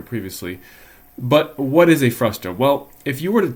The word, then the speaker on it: frustum: But now we're going to talk about the area of what's called a frustum. That's F-R-U-S-T-U-M, pronounced frustum, also sometimes known as a band.